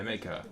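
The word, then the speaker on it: Maekar: King maker maker yeah maker I suppose it's RAR you don't pronounce the E maker maker the black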